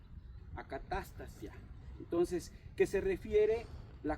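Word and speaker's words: ἀκαταστασία: Pero su pronunciación es acatastasia, acatastasia.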